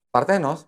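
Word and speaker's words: παρθένος: Parthenos bacanya. Bukan, lu jangan sampai nama Latin. Kalau Greek itu pengucapannya beda sendiri, nggak kayak sama kayak Latin.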